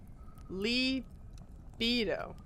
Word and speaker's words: libido: Libido. Huh. Mira said it the way I do. Libido. Libido. Yeah, la. Mm-hmm. It's Latin. The I is not pronounced like an A.